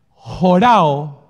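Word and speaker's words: Horao: Jorao, que yo lo escribiría, digamos, en palabras en español, H-O-R-A-O. H-O-R-A-O. Realmente eso se escribe como con un apóstrofe.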